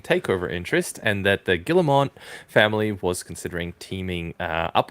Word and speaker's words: Guillemot: Guillemot. The French with all these characters you don't pronounce.